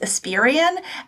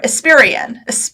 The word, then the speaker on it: Espirian: time I thought your last name was UN pronounced asperion and it turns out you have a pronunciation